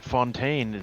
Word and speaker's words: Fontaine: funny it's like it's it's dutch but it's the French like pronunciation like it's this whole